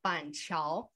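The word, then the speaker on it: Banqiao: for example this place called panchal panchal and it can be spelled as b-a-n-c-i-a-o and also b-a-n-q-i-a-o so that's the reason why is because we don't use this English alphabet to help us to pronounce Mandarin that's why so people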